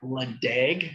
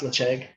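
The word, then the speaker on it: Ledaig: So Lecheg, if you're looking for it, looks like Ledeg, Harmony, as she just put it in there. It's pronounced Lecheg.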